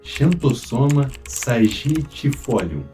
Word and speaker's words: Xanthosoma sagittifolium: A taioba, o seu nome científico é Xanthosoma sagitifolium. Eu acho que eu pronunciei certo, mas ela é uma planta da família das Araceias, a mesma família do inhame.